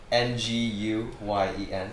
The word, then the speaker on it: Nguyen: uh nguyen say it again how do you spell that n-g-u-y-e-n ah you just gotta yeah yeah slide through